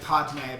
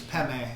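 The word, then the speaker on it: padme: and you see that it's um looks like patme but it's actually it's peme it's pronounced the hum is home of course it's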